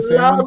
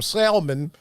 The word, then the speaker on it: salmon: Does she pronounce the L in salmon? I'm like, the T ain't talking. She wanted some salmon and some Merlot.